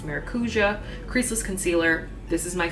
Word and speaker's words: Maracuja: this tarte maracuja which I've been pronouncing marua but apparently it's maracuja creaseless concealer this is